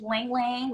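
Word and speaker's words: ylang-ylang: It is Lang Lang, which is Y-L-A-N-G, so it's spelled kind of funny.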